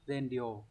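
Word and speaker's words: 善良: đáp án đúng là s bằng đúng không Z đáp án số 3 này các từ còn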